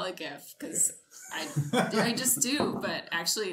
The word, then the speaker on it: GIF: okay so he's pronounce Geetha no it's actually pronounced jiff I call it gift I just do but actually there's this like